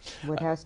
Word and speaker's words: Wodehouse: Woodhouse's, or Wodehouse, the Americans pronounce it. Woodhouse?